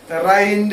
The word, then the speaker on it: rind: She asked her to first P-A-R-E, pare the rind from the lemon. R-I-N-D is pronounced as rind.